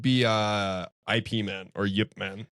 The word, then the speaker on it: Ip Man: uh IP man or Yipman. Yipman. Yeah. Yeah. So I that movie just like Is it pronounced Yip, man? Yeah. Okay. I I'm pretty sure that's what they say in the movies anyway.